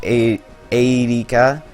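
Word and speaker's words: Eirika: I call her Erica because if you were to pronounce that in Japanese, which is the way it was meant to be pronounced, that would be pronounced Erika, which is essentially Erica.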